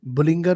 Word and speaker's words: Bollinger: जी तो आज हम बात करेंगे इस वीडियो में एक इंडिकेटर के बारे में बुलिंगर बैंड जिसको कहा जाता है। कुछ लोग इसको बुलिंजर बैंड के नाम से भी प्रोनाउंस करते हैं और कुछ बी बैंड्स के नाम से भी जानते हैं।